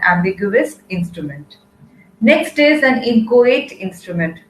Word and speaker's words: inchoate: Next is an inchoate instrument. Please be very particular about the pronunciation over here. It is inchoate.